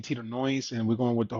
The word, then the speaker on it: Knoise: But the K is silent, Mm, and and even though the name Tito Knoise, and we're going with